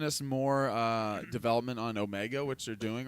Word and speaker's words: Omega: I I start when when they said her name is Amiga I immediately thought and sat there and thought I've been mispronouncing this the whole time like is it actually